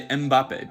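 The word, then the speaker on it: Mbappé: I've definitely heard a lot of English speakers say Mbappe, but technically when you do that, you're adding a whole syllable, just like Spanish speakers when they say Estarbucks. This is because in Cameroon, where Mbappe's family's from, there's a lot of Bantu languages, and they have these things called pre-nasalized consonants.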